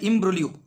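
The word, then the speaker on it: imbroglio: কথাটার অর্থ হচ্ছে কাল্পনিক ইমব্রলিও উচ্চারণ হবে ইমব্রলিও ইমব্রোগলিও ইমব্রলিও ইমব্রলিও কথার অর্থ হচ্ছে জটিল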